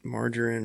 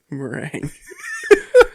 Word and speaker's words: meringue: For the, is it margarine or whatever you make on the meringue? Not margarine. Meringue.